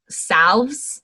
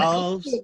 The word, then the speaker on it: salve: That's like when I was in herbalism school and we were learning how to make salves. And Salves. I say salve, but some people just say salve, but it's spelled SALVE.